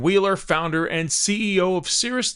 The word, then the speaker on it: Cirrus: That was Morgan Wheeler, founder and CEO of Cirrus 9 Candy, explaining why she makes salted butter cotton candy. By the way, cirrus is spelled C-I-R-R-U-S, like the cirrus clouds, hence the cloud-shaped cotton candy.